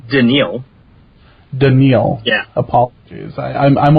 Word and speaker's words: Danielle: round we picked up Danielle Hunter it's actually pronounced danial denil yeah apologies I'm I'm only good at